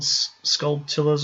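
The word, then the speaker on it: Skulltula: I remember that the gold sculptulas, or how do you say that? Sculptula. Yeah, sculptulas were a thing. Like tarantula.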